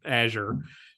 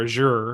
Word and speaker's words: Azure: assume that it's going to ingest data from Azure or Azure, however you pronounce it where you live. Mark, how do you pronounce it? I don't Azure.